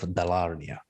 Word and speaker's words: Dalarnia: And today we talk about a game that I personally can't wait for, and it's Mines of Dalarnia. Did I say that right? Yeah, I said it right.